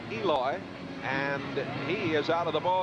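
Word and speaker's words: Elois: Grooms pronounces his first name Eloy, and he is out of the ball game.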